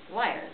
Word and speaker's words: lyre: Lyre, the word lyre, rhymes with wire.